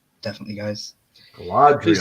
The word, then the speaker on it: Galadriel: So I'm still Galadriel. So it's Galadriel. Galadriel. Galadriel. That's it. Perfect.